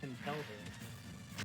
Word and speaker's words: Conkeldurr: What about our Kelder pronunciation? Conkeler or Kelder? Bitch. It's Answer. Fogelter, right? It's Conkelder.